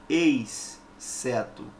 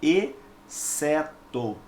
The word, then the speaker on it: exceto: dígrafo é consonantal tá você não diz ex certo não você não pronuncia assim é um som apenas e certo ok e se são